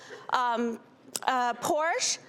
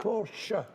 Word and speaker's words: Porsche: He drove around on a little Porsche, up and down. Porsche.